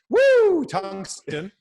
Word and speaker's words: Tungsten: So we're running an e-commerce store, an e-commerce company called Tungsten. That's how it's pronounced.